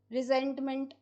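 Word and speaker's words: resentment: रिसेंट का मतलब होता है नाराजगी, रिसेंटमेंट, ये रिसेंट सी ई नहीं है, रिसेंटमेंट, रिजेंटमेंट होता है एग्जैक्ट इसका प्रोनाउंसिएशन।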